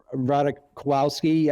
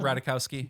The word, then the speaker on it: Ratajkowski: Number 1 would definitely have to be Emily Ratajkowski, I believe it's pronounced. Yeah, Ratajkowski.